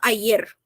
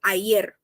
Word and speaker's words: ayer: Ou também tem gente que fala ayer, tá? Os dois tá certo. É como se fosse ayer, ayer, tá? Eu pronuncio mais como se tivesse um Dzinho mudo ali, ayer. Mas também tem ayer.